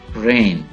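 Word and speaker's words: reign: रेन, रेन, दौरे हुकूमत, दौरे हुकूमत, जी इज साइलेंट, रेन।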